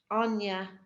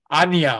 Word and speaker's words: Anya: right yes um my my name you pronounce it Anya Anya okay love okay sorry